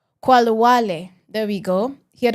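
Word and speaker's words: Khalwale: Qualawale.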